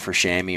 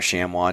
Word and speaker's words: chamois: I feel like New Zealand's still a really good option for chamois or chamois, depending on how you want to pronounce it.